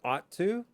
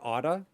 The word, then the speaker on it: ought to: The second point that we had was that we use should, but sometimes you can use ought to. And if you remember, we can also say oughta.